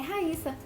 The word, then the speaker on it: Raíssa: E a pronúncia correta dele é Raíssa, com apenas um S.